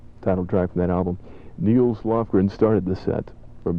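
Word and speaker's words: Nils: Talking to a guy on the phone just a minute ago, and he told me that I was mispronouncing Niels Lofgren's name. I think I was saying Niles, and if I'm wrong, excuse me.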